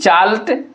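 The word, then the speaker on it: chalet: इसको देखिए हम लोग क्या एन आई सी एच ई नीच सी एच ए एल ई टी चाल्ट ये चाले पढ़ते हैं इसको टी साइलेंट हो जाता है वी ओ यू सी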